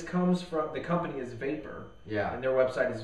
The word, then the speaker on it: Vapur: It's spelled with a U, right? Yeah. V, the company V A P U R.